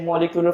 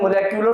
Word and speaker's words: molecular: इसका जो प्रोनाउंसिएशन है वो होती है मोलेक्यूलर फार्मूला। और कॉमनली हम आमतौर पर पाकिस्तानी है तो हम लोग मोलेक्यूलर बोलते हैं, हमारा मुंह को पूरा वॉक खोलना पड़ता है, इसलिए हम मॉलिक्यूलर वर्ड बोलते हैं, जान छुपा लेते हैं। तो आप मॉलिक्यूलर बोल सकते हैं बट the real pronunciation is द मोलेक्यूलर formula.